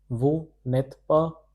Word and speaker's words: vous n'êtes pas: This is pronounced as vous n'êtes pas.